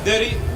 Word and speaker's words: Dairy: my name is Dairy Dairy like you could pronounce it like berry so it's not that hard I came here about